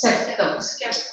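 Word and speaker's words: sceptre: This scepter shows Scepter. Scepter. C is silent.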